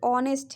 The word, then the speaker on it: honest: ठीक है, तो ऑनेस्ट, यहाँ भी ओ से पहले एच आ रहा है। ठीक है, ओ से पहले एच आ रहा है तो इसका सही प्रोनाउंसिएशन ऑनेस्ट होगा, क्योंकि ओ से आप करिए। ठीक है, जहाँ से ओ है ओ से पहले एच को हटा दीजिए और ONEST क्या हुआ, ओनेस्ट हो गया।